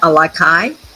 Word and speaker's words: Alakai: In 2020, Joe and his daughters founded the Alakai, did I pronounce that correctly?